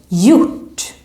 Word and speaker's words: gjort: So also here, when we see a word that has this combination, we don't pronounce the G. It's silent. For example, in this verb, gjort.